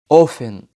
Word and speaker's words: often: مش بننطقه بعض الكلمات زي الكلمات دي often castle، وزي كلمة watch watch.